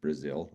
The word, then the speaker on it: Brazil: So Rich, what, Brazil, like, yeah, like the country Brazil is how you say his last name.